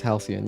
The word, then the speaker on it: Halcyon: I mean, how do you pronounce this word? Halcyon. Oh, okay, it's Halcyon, yeah.